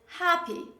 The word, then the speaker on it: happy: there's only one consonant we don't pronounce both of them but majority of english learners tend to pronounce both of them when they speak one very common example is the word happy say with me happy